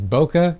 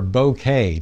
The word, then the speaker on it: bokeh: Those blurry blobs in the background are referred to as bokeh or bokeh, depending on your pronunciation.